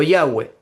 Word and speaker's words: Yahweh: Hoy en día, si uno va a la parte norte de Israel, algunos pronuncian Yahvé o Yahweh. Más al sur, algunos lo pronuncian como Jehová.